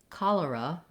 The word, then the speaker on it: cholera: First of all, in cholera, letter O says the ah vowel.